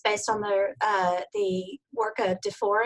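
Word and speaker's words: DuFour: This is based on the work of DeFore and Aker is how he pronounces it.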